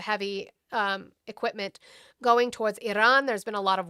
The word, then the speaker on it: Iran: I apologize that you can't roll your Rs.